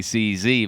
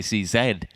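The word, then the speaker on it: CZ: oh no oh oh but that's the american pronunciation as well you know they say they say those those yanks say c z but i always say c said yeah that's that's because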